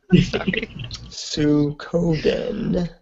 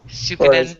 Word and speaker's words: Suikoden: I hope I pronounced that correctly. That's an epic name. Yeah, it really is. Shinra. Sukoden. Is that Sukoden? Suikoden, yeah.